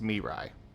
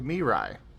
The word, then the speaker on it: Mirai: not Mary anymore it's Mirai I'm confused Mary changed their name to Mirai ah okay apologies me right for me right like that like like the Japanese word for future I don't know the